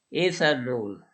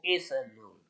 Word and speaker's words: ethanol: Aquí también casi es igual la palabra en inglés, nomás que después de la T lleva una H, y entonces con el sonido S, ethanol. Y el acento en la E en vez de la O, ethanol.